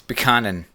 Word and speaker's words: Buchanan: And then also, could you pronounce, you just mentioned a Cormac somebody. Give me that surname. Buchanan. It's Buchanan.